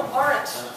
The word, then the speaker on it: Arendt: Roger has explained it is the Arendt Center. Arendt. Arendt. Yeah. Sort of like, is it? Is that? No, aren't. Aren't, yeah. And my goal on this